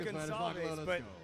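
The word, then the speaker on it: Gonçalves: You saw how Gonalves was able to hold his resolve there and resist the takedown. His last name is spelled G O N C A L V S. Pronounced Gonzav I said gone with the way he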